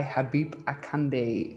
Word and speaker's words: Habeeb Akande: deeper podcast and today i am joined by habib akande am i pronouncing your name correctly pronounce it perfectly okay